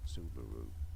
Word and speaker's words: Subaru: generally said as subaru subaru with a stress on that first syllable subaru from Japanese subaru they pronounce it the same way we pronounce it the same Okay.